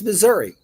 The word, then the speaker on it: Missouri: It's Missouri. We pronounce it Missouri.